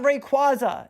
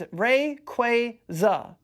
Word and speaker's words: Rayquaza: See, it's not Rayquaza, it's Rayquaza. Say it with me, baby. Ray Quaza.